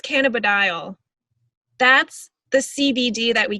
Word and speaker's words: cannabidiol: an hour ago but it's a really weird word but can a cannabidiol i think it's cannabidiol that's the cbd that